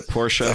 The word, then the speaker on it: Porsche: John the dog Palmer Porsche power suits him well the top 10s race yes I've learned from milk the Porsche has two syllables the fact I will